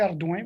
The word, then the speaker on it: Ardouin: Ardouin? Quelqu'un sait comment le prononcer? Non, Joey Ardouin, vous l'avez bien.